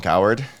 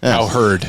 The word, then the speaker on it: Cowherd: It probably was not said recently, but I just saw the clip of it yesterday, Colin Coward. Colin Coward? Howard Coward. What's his Coward, yeah. Yeah, Coward. Cowherd.